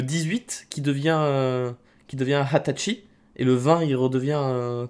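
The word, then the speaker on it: 二十歳: officiel c'est celui-ci attention 20 ans en japonais ça s'écrit comme ça nus mais on a une prononciation particulière pour ce mot qui est hatachi qui correspond à l'âge de la majorité au Japon enfin là ils sont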